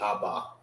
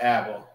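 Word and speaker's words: אבא: Assyrian way of saying Abba. All right? Abba. That's how it was written in the New Testament. All right? It's not Abba. It's Abba. That's how you say it in the Hebrew.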